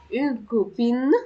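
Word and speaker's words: copine: رفيقة اللي هي صديقة، اون كوبين، هنطق الإن، اون كوبين.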